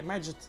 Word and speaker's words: Magit: It's like magic, but Magit. So yeah, Magit is correct pronunciation, even though, as far as I know, its creator is German.